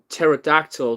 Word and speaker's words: pterodactyl: Pterodactyl to go to the bathroom because the pee is silent?